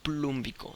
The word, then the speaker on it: plúmbico: Cambiamos la O por la U. Óxido, como en este caso es la valencia mayor, vamos a poner óxido con acento en la U, plum, terminación ico, óxido plúmbico.